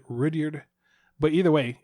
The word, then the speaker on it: Rudyard: I say when I say it sounds like Richard. Like a Richard. You said Rudyard, but either way, it's Kipling.